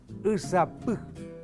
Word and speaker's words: usapú: Usapú. Usapú es el rocío. Silabeado es u-sa-pu. La sílaba que lleva la vocal tónica es pu y por ser final, acento prosódico.